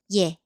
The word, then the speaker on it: 예: Again, one more short stroke gives y sound before the vowel. So 에 becomes 예.